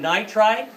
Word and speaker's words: nitride: So it is nitride. Nitride. Yeah, but it's 2 syllables, so we try to always keep them at 2 syllables.